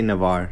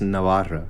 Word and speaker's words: Navarra: So yeah, in English you say Navarre, but Navarre. in Spanish it's Navarra.